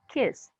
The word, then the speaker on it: kissed: they kissed yes bish make sure alejandra you pronounce the t kissed excuse me kiss because